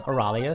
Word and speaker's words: Oralia: nope or Taylor so a rally oh she did let me know in the comments it's pronounced Oralia so I know that